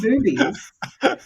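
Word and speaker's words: Bube's: It's spelled B U B, but it's pronounced boobies.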